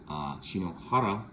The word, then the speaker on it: Shinohara: People know me as Shino, so my last name is Shinohara, Shinohara if you're Japanese, and a lot of